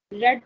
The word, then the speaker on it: read: रेड जो है वो हमारे रीड की सेकंड और थर्ड फॉर्म होती है, स्पेलिंग वही होते हैं, जस्ट प्रोनाउंस करने में हम इस तरह बोलते हैं, रीड रेड रेड, ठीक है।